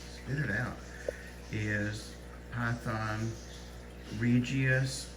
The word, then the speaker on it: regius: it out is python regius or regis depending on how you pronounce it it's r-e-g-i-u-s so obviously he's regis